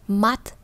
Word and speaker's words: mat: Và như vậy nó sẽ không có im như trường hợp của climat hay là attentat phía trên, mà lần này chúng ta đọc là mat.